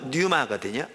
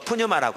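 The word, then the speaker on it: πνεῦμα: 이따도 나올 텐데 원래 영이라는 단어는 헬라어로 뉴마거든요. 앞에 물론 그 폐가 있어서 푸뉴마라고 하기도 하는데요, 일반적으로 묵음입니다.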